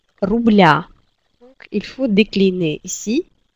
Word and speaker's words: рубля: Si vous vous souvenez, donc avec l'âge, on dit 2, 3, 4 рубля. Donc, il faut décliner ici. Le signe mouillé devient ya, рубля. Et on change l'accent tonique sur ya.